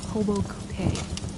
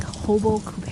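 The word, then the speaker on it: Robot-Coupe: And then in that category of power tools that I enjoyed, one of my other favorite ones is called a Hobo Coupet.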